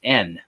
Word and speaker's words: yen: uh I did come back with one Japanese n this is a their their coin their dollar they're equivalent of their dollar Yen they pronounce it n uh and uh it's